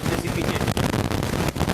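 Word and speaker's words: precipitate: लोग क्या बोलते हैं, प्रेसिपिटेट। परसिपिटेट नहीं, प्रेसिपिटेट, प्रोनाउंसिएशन एकदम बिल्कुल सही से किया गया, प्रेसिपिटेट।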